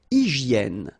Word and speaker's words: hygiène: Une hygiène. So remember, we've got this Y here, vowel, and it's pronounced like E, okay? Hygiène. H doesn't exist, H doesn't exist in French, so hygiène.